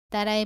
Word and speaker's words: 따: 공기가 나오지 않도록 발음합니다. 따라해 보세요.